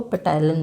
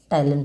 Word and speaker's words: ptyalin: कई बच्चे इसको पेटाइलिन बोलते हैं, कि स्पेलिंग इसकी पी से स्टार्ट होती है, PTYALIN, पेटाइलिन नहीं है बेटा, ये साइलेंट, इसको टाइलिन पढ़ते हैं अपन।